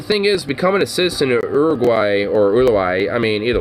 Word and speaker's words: Uruguay: know there's a few other aspects about uh Uruguay they're actually legitimately policy wise pretty good what country ulawaii or I mean the more English slash Americanized way that people say is Uruguay but it's actually pronounced Uruguay thank you but